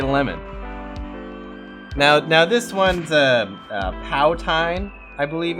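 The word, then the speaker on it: poutine: Now this one's Powtine, I believe it's pronounced. Oh, this is a Canadian delicacy. It's actually pronounced Putin. Oh, okay. You guys have yet to perfect your French accents. It's actually a Powton.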